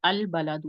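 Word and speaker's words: البلد: जो है हम लिखे अल बलादू। ठीक है, अल बलादू, देखिए लाम, अलिफ लाम के बाद बा आ रहा है। ठीक है, तो ये क्योंकि लाम प्रोनाउंस हो रहा है अल बलादू।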